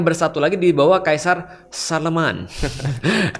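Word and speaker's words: Charlemagne: Oh, nanti yang di sebelah barat akan bersatu lagi di bawah Kaisar Sharleman. Charlemne tulisannya. Oh, Charlemne bacanya apa? Iya, Sharleman.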